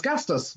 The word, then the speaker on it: Gastis: Gastis, is this Gastis? Is that how I pronounce your name? Percy, you pronounce it pretty good actually. It's Gastis.